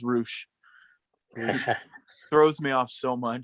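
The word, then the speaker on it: Rush: i think so yeah i hate that it's pronounced roosh throws me off so much big fan of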